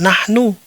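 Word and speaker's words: نحن: Karena cara membacanya tetap sama, jadi mudah bagi kita, kan? Ketahuilah bahwa itu dibaca sebagai "nahnu", yang berarti "kami", bisa dua orang, tiga orang,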